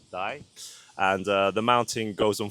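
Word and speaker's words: 大: So there's a mountain in Kyoto called Daimonji, where the actual mountain has so there's a kanji called big, which you pronounce as Dai, and the mountain goes on fire in the shape of that Dai, which is pretty cool.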